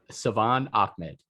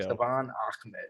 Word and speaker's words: Salvon Ahmed: Yo, Salvon Ahmed. There we go. Salvon Ahmed. Sorry. I had to look up how to pronounce it to make sure I didn't mess it up again like last year.